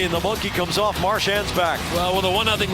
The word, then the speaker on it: Marchand: previous years, he wants everybody to call him Marchand.